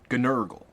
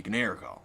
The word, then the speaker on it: Gnurgle: Gnurgle. According to S, it was supposed to be Gnergal, just 2 syllables, like the vowel had been chopped off of the head.